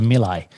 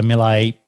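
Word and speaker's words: Miele: someone that works for milay so melee you know is the premium white goods manufacturer i'm sure you all heard it might pronounce a little differently in your country i'm in australia but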